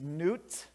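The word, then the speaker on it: Nut: crops and against uh and her name is newt not not newt's goddess of the sky i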